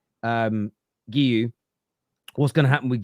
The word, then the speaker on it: Guiu: What are they going to do with Gay? I always keep saying his name wrong. Guiu.